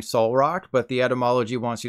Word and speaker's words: Solrock: Instead of pronouncing the Solrock as in Better Call Saul, think of a soul and call it Solrock.